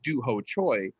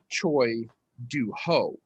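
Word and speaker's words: Choi Doo-ho: as do ho choy his name is actually choi do ho but because of the way surnames are pronounced and sometimes america doesn't properly do that we have inverted duho choi's name and it should actually be choi du ho and sung woo just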